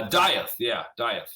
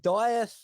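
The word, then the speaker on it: Dieth: got another side group I believe it's pronounced death right uh diet what diet all right yeah cool I've been pronouncing it wrong the whole time yes exactly put the eye is down right yeah yeah diet the Lucid uh you've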